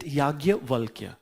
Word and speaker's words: Yajnavalkya: We in Hindi we pronounce it Yagyavalkya. Then, but how we write Yajnavalkya?